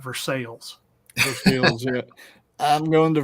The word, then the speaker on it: Versailles: That's why instead of having Versailles, we've got Versailles.